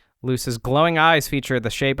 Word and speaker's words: Luce: I don't know if it's pronounced Luce or Lucy. It's Lucee, but it's Italian for light.